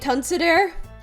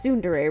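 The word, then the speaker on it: ツンデレ: online and I had no idea how to pronounce it so I'd end up calling it tons there and for and for several not several I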